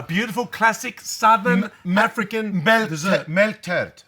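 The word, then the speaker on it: melktert: Milk tart. Apparently it's pronounced milk tart.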